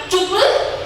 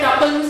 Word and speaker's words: tuple: ரோ எப்படி சொல்லுவாங்க, tuple or record. இது pronunciation may vary depends on the person. நான் tupleங்கறேன், சில பேர் tupleனு சொல்லுவாங்க. அது based on your choice you can read.